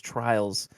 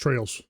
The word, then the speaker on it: Trails: It's the Legend of Heroes Trials Beyond the Horizon. Do you know anything about the the Trials games? Is it Trials or Trails? It's Trails. This one's Trails.